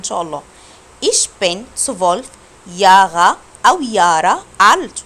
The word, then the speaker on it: Jahre: ايش بن 12 ياغا او يارا الت. ركزوا في الكلمه دي عشان بسمعها منكم كتير اسمها جارا، لا ده حرف اليوت، واليوت بنطقه يا.